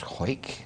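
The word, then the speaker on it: Hawik: pronounce his name properly his name was ha a w i k which is a yeah well I didn't know it was hoik that sounds like somebody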